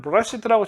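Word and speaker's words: בְּרֵאשִׁית: 그러니까 당연히 정관사가 있는 패턴으로 바라시트라고 읽어야 된다. 라고 이렇게 생각을 했는데 지금 맞소락자들은 브라시트라고 정관사가 없는 패턴을 읽었다는 거예요.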